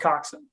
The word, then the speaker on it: coxswain: correct sorry rusty it's milcock swing but it's pronounced coxswain okay quick okay so if they're just two